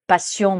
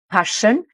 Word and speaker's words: passion: ne va pas prononcer passion mais passion ici le double S se prononce avec le Son che et d'ailleurs c'est aussi